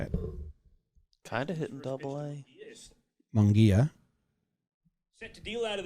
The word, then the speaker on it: Munguia: Okay, Baseball Reference says you pronounce it Ismael El Munguia. Ismael El Munguia. Kind of puts the accent right in your mouth for you. Ismael Munguia.